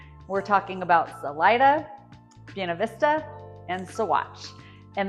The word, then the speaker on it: Salida: So if you're coming from a Spanish-speaking background, or even just a general knowledge of how Spanish works, your brain's probably saying to you, Salida, but around here it's pronounced Salida. So those with the Spanish-speaking background, of course, are going to want to say Salida, but yeah, it's Salida.